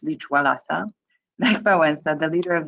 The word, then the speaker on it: Lech Wałęsa: On the left, you see the very first front page of Gazeta Wyborcza back in early 80s with Lech Wałęsa. Lech Wałęsa, not to be pronounced Lech Wałęsa.